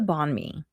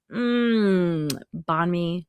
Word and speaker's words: banh mi: And Vietnam is also home to one of my favorite foods, the banh mi.